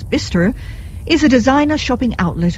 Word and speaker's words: Bicester: Bicester Village, the name pronounced with the hearty local twang as Bicester, is a designer shopping outlet of international renown.